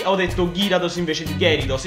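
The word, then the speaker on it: Gyarados: pronuncia e va benissimo Ho detto girados invece che geridos ma sono errori che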